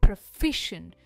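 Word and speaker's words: proficient: next is प्रोफिशिएंट प्रफिशंट फी पर इसका stress है प्रोफिशिएंट हम इसे प्रो नहीं कहते ये है प्रोफिशिएंट प्रोफिशिएंट यानी निपुण या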